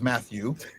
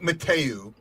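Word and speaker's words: Mathieu: Uh, and then I'm getting some crap, you know, that it is Matthew and I said it looks like Mateu and that's the way I pronounced it.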